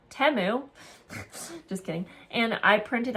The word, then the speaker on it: Temu: I got from Temu, which I've been calling Temu this whole time, and you guys never told me I was saying it wrong. Temu.